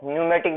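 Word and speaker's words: pneumatic: इसकी स्पेलिंग में पी आता है, जो साइलेंट रहता है यानी क्या हो गया, न्यूमेटिक बोन कहलाती है, यानी न्यूमेटिक अस्थि इसको कहा जाता है।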